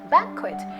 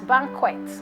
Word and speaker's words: banquet: Banquet. It is commonly mispronounced as banquet because there's an E here, B-A-N-Q-U-E-T, but it's actually banquet. It's a short E sound, banquet, like sing, right? Banquet, ship, banquet.